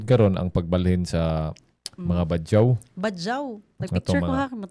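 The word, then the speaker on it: Badjao: By the way, ang atong pag-pronounce ana is badyaw. So the way badyaw. Well, soft na ilang pag-mention, di gina sila gahi. Ang kita ra yung Bisaya, may gahi kayo.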